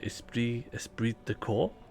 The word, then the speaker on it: esprit de corps: Sorry, I've triggered Esprit de Corps. How do you say that in a more French way? Esprit de Corps.